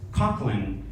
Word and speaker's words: Coughlin: yeah so actually uh my last name in ireland is pronounced cochlin and my ancestors they